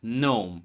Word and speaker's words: gnome: Like gnome. Yeah, you know the creature gnome, right? You know that G is silent before N.